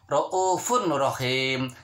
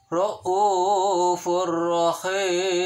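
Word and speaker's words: رَءُوفٌ رَّحِيمٌ: Ataupun contoh yang lain, kita ambil tulisannya raufun rahim, dibacanya adalah raufur rahim karena tanwin ketemu sama huruf ro. Ro adalah salah satu huruf idgham bila gunah, dibacanya harus jelas. Seakan-akan bertasydid pada ro.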